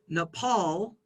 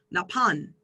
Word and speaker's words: Nepal: So for example, Thai speakers, this word here in English, we pronounce Nepal, but Thai speakers would pronounce Napan.